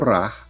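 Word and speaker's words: ㄹ: Ito namang pong ra ay binibigkas ng R at saka L. Sa simula po ng salita or pangusap, ito po ay binibigkas ng R or R sounds. At kapag nasa hulihan po ng salita, ito po ay L sounds.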